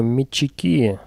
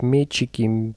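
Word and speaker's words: метчики: Заметьте, я говорю мячики, ударение на последний слог. А то в последнее время пошла тенденция говорить мячики, мячик. Профессионалы так не говорят, только дилетанты, потому что это неправильно.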